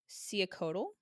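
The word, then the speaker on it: Cihuacoatl: It is pronounced Siacotl.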